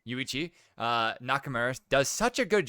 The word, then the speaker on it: Yuichi: Yuichi.